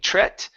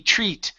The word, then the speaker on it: treat: we're going to say to treat this is a long e sound instead of tret tree ee treat to treat certain health